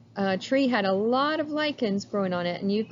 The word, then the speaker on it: lichens: it's called lichens now the word looks like lichens it is not pronounced lichens it's called lichens and what happens are these